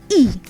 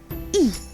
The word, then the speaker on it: I: And then we have I, that is pronounced like E in English. So E. E.